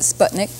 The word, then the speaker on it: Sputnik: The Russians call their first space venture vehicle a Sputnik, I think they pronounced it. So we made it sound a little more English because we don't have shp in English, so we called it Sputnik.